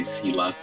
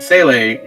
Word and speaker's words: Seele: Seele as a character, I'm gonna say it like how they say it in Honkai 3rd. I know they say Sela in Star Rail, right? in Honkai 3rd, Seele, she is highly associated